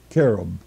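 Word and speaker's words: כְּרוּב: number 3742 and it's spelled k-e-r-w-b and it's pronounced as if it were spelled k-e-r-hyphen o-b-b carob it is defined as an imaginary figure plural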